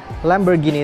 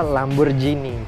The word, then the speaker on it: Lamborghini: Nah, masih kebanyakan orang melafalkan Lamborghini itu dengan kata Lamborghini pakai huruf J. Padahal yang sebenarnya yang benar itu adalah Lamborghini tetap pakai huruf G.